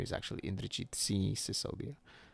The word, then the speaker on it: Singodia: Most people don't or can't say Indrajit or my full name is actually Indrajit Singodia, not Singh Sicodia, which has been the story of my life where people always mispronounce and think I'm uh Punjabi, but I'm not.